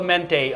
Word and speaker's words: Mente: This is Mente. We're going with Mente on the pronunciation.